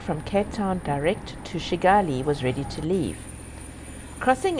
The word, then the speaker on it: Kigali: the name is pronounced shigali not with a hard K as it's written this we soon learned